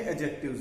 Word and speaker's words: adjective: सो वो एडजेक्टिव है। एडजेक्टिव में डी के तुरंत बाद जे आ गया। जब भी डी के तुरंत बाद जे साउंड आती है तो डी को कभी प्रोनाउंस नहीं करते।